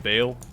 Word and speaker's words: Baal: last fight before we fight Bale I said it right that time it's going to be